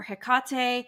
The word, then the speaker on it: Hecate: about HEC and I it's HEC or Hecate I've heard it both ways depending on where people are from it's sometimes spelled with